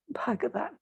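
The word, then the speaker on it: भगवान्: And you see, because the word Gita starts with a strong G, G, the end of the word just before, which should be actually Bhagavan, becomes phonetically Bhagavat. But the actual name, meaning the blissful one, is Bhagavan. Bhagavan is the name of the divine.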